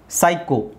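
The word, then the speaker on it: psycho: ನ ಸೈ ಅಂತಾನೆ ಹೇಳ್ಬೇಕು ಪಿ ಎಸ್ ವೈ is always ಸೈ ಸೈಕೋ ಸೈಕೋ ಸೈಕೋ ಪಿ ಎಸ್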